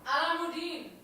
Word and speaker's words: Alamuddin: Alamuddin. Thank you. Oh, that pronunciation.